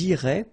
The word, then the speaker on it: iraient: And then if you look carefully, you get A-I-E-N-T. Okay? But then phonetically, it goes like E. Okay? So, technically, these form and these forms here are pronounced the same way. And it goes like irait.